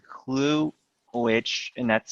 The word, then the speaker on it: Clew: um but there is also an app called clue which and that's spelled clew and that's an interesting app where